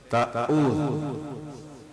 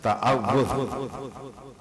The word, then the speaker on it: تعوذ: تلفظ کو صحیح کریں۔ ہمارے یہاں لوگ کہتے ہیں تعوذ، اس طریقے سے پڑھتے ہیں، یہ اس کا تلفظ نہیں ہے، اس کا تلفظ ہے تعوذ۔ پہلے تو ہم اپنی